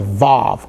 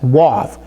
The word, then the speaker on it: vav: time today, and that's called the vav or other people pronounce it as wave. So, it could be vav, it could be wave.